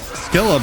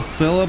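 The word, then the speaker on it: Scylla: I've heard the name pronounced Skila before, which I much prefer, but we will call Sila by its proper name cuz we're decent like that, right?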